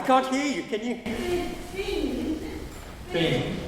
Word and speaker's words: Byng: Bing? Bing. Pronunciation of his name.